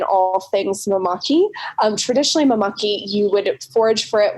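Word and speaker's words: māmaki: obviously you've talked about the mameke leaves and i hope i'm pronouncing that right the more you talk bella the more i realize i need to brush up on my hawaiian oh yeah no it's really easy it's just mamaki so like mama and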